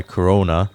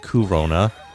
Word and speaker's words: Corona: see girls affected by corona that's pronounced kurona who is a demon